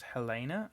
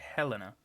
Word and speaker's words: Helena: using I had to it's interesting that you pronounce that as Hellena and I would say Helena either it's right I'd imagine it's just a mat I think it just depends on the actual person who's being talked to so yeah